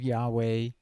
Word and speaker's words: Yahweh: so the name of yahweh should be produced in every bible it was uh i'm gonna just use english letters w-h-w-h usually it's understood to be pronounced yahweh but some people say